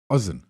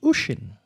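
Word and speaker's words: Oisín: Oisin. Oision. Ozen. Almost. Osama bin Laden. No, I don't think the Irish name their children that. It is pronounced Ushin.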